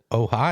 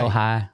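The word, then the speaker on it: Ojai: it pronounced as o ohigh ohigh kind like Ohio but not quite in Ohio it's it's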